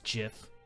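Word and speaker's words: GIF: i think these are the og's that have answers they have answers it's jif there's you know pizza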